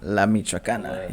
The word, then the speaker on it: La Michoacana: This is going to be how do you pronounce it? La Michoacana? La Michoacana, yes.